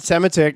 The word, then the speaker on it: Semotiuk: uh very funny edmonton based uh comedian brad sematic is uh joining us today hello brad how